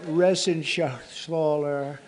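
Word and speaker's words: Reschenthaler: John David Joyce David thank you and Guy Ren Shaler you know that resen Shaler he's uh that's actually the way you pronounce it you know nobody else gets it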